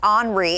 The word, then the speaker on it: Henri: So I did double check, and it's Henri.